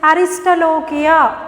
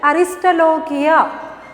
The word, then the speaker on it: Aristolochia: Aristolochia. See the pronunciation? Aristolochia.